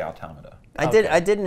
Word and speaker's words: Automata: I should say automata Oh claim can't be pronounced either way I say automata I did I did an interview recently where a guy just didn't even try and he just called it automation automation ones like yeah sure whatever bummer all